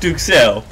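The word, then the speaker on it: duxelles: us about the DU Les well it's actually pronounced duel but it's generally a finely chopped or minced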